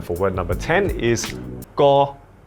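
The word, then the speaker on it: 個: word number 10 is go. Go. Go. It's tone number 3. It's a flat mid-tone, very easy to remember.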